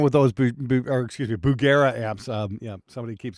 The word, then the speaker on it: Bugera: go uh neverl Lord just picked up a berera 6262 and I absolutely love it paired with a aming 2 X12 black Shadows yeah there's absolutely nothing wrong with those or excuse me Bugera amps um yeah somebody keeps going you're pronouncing